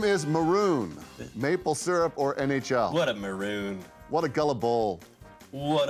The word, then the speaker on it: Patrick Maroon: It's actually Maroon. You're saying it wrong. It's Maroon. It's Maloon. Patrick Maroon.